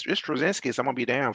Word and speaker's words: Straczynski: How do you pronounce it? Straczynski? Yeah, J. Michael Yeah, Straczynski, Straczynski.